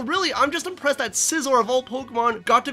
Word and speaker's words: Scizor: of pointless Boesel it's scizor the Pokemon whose name can often be mispronounced as scissor as an ass thing